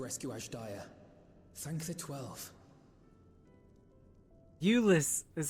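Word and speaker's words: Jullus: were able to rescue Asia thank the 12 Ulus is how they say his name j u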